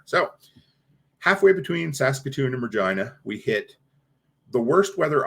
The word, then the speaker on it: Regina: all of Canada uh rhymes with vagina Regina Saskatchewan lety Lou if